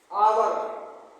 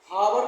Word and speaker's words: hour: आवर, HOUR, हावर नहीं पढ़ना है इसको, आवर, एच इसमें साइलेंट है, इसको लिखेंगे आवर, और अक्षर से आ गया, इसलिए इसमें आ जाएगा एन आवर।